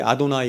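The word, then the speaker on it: אדני: 그래서 여기 아도나이 이렇게 붙인 거야.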